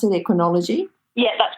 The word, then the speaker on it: Equinology: Now, this Equinology Equine Body Worker, is that how you pronounce it, Equinology?